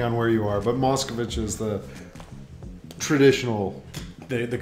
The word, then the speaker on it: Moscovic: pleasure of introducing mosichi and am I pronouncing that correctly it's mosovich or mosichi whatever you want like it kind of goes both ways depending on where you are but mosovich is the traditional the the correct one yeah